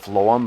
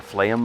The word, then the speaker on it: phloem: And the phloem, or phloem, I think it's how it's pronounced.